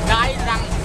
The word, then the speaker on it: Cai Rang: the biggest bustle market of Mekong Delta, the Cai Rang bustle market.